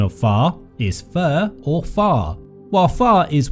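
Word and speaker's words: phở: most mispronounced of all Vietnamese dishes the true pronunciation of far is fur or far while far is well-known and permeated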